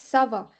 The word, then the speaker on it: ça va: Ça va. CCD. CCD. C'est dit. Ça va. It's not kava, it's ça va.